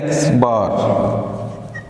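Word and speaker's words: x̄: अब इसकी प्रोनाउंसिएशन जो है ये है x बार।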